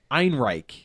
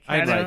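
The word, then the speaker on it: Ehrenreich: name is Alden uh Ein I think that's how you pronounce that name yeah like Ein Reich very very German very sounding name yeah so I have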